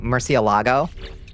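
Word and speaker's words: Murciélago: I say it like an American. Murcielago.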